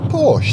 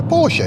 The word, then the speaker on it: Porsche: obvious one is pora people call them a Porsche don't they it's not it's a Porsche it's German it's got an e on the end it's Porsche the other one is something that you've